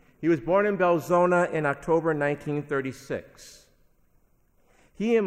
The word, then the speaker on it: Belzoni: the Mississippi Delta in a small town called belzoni that's not the way it's spelled but that's how it's pronounced he was born in belzoni in October 1936 he and my grandparents left